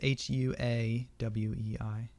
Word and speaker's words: Huawei: Hawaii but and Huawei they're like a it's hua WEEI yeah wait see that again trying to like